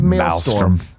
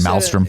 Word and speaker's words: maelstrom: One, possum with an O before it, and the other is maelstrom. Maelstrom? I don't know how to say it. Maelstrom. I just say You said Malstrom. It's Mal. It's Mal. So then storm.